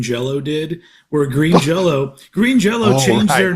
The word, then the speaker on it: Green Jelly: did where Green Jello Green Jello changed their name to where it says green jelly but if you asked them they would say no it's still pronounced Green Jello green jell we just